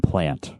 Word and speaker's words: Plante: And just to make sure that I am pronouncing your name right, it is Plante, right? It's actually Plante, Plante.